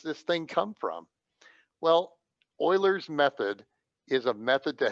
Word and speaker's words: Euler: picture of leonard euler he pronounced his name euler not euler leonard euler was a